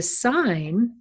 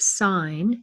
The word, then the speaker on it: sin: the cosine and that's abbreviated cos in the pronounced cos not cos and the sine would be the y coordinate and that's sine that's abbreviated s-i-n that's not sin that's pro that's pronounced sine even though it's just says it's it's not